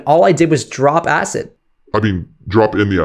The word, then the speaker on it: AICD: It's called AICD, I pronounce it acid, drop that in, and